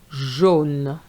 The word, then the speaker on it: jaune: AU gives you the sound O. Jeune, jaune.